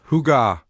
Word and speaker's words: hygge: It's a Danish word. Hy, pronounced huga.